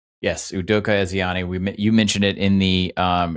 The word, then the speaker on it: Udoka Ezeani: You're going to have to pronounce this for me because I butchered it. Udoka Ezeani. Yes, Udoka Ezeani.